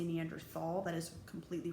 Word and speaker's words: Neanderthal: not how you say it it's neanderthal so now if you hear someone say wrong you'd be like that's wrong the correct way neanderthal okay um but if